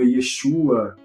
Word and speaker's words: Yeshua: E ele traz termos como, por exemplo, João, ele vai dizer Yoshanan, Jesus vai estar como Yeshua, Josué vai estar como Yehoshua.